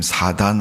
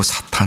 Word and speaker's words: 사탄: 그런 표기입니다 그래서 여러분 사단이란 말은 한글 성경을 표현할 때 옛날에 그렇게 표현했는데 요즘 원어에 가깝게 표현한다 사탄이란 말을 많이 씁니다 동일한 존재를 의미하는 겁니다